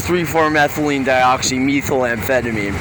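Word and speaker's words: 3,4-methylenedioxymethamphetamine: Please do not pronounce it 3,4-methylene dioxymethamphetamine, because as soon as you say that meth word, it makes people who don't know any better think things that aren't real. Yes, it is connected to.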